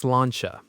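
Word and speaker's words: sláinte: It's pronounced slanchcha.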